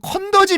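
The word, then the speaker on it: 肯德基: 그래서 중국 사람들은 예 컨 더지 빌딩 이라고도 부릅니다 컨 더지 한도 좌굴 예 중국 사람 중국 발음으로 이 컨 더 지가 캔터키 입니다 캔 특히 파 er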